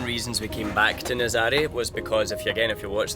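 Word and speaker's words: Nazaré: Nazare, as Gemma explained to me it's actually pronounced, it's got really good facilities just on the outskirts of town.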